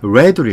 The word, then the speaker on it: read: 여기는 과거를 표현해서 스펠링은 똑같지만 read로 읽어요.